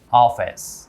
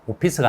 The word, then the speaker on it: office: office, Office. office. F 발음 주의해서 오피스가 아니라 Office. office, Office.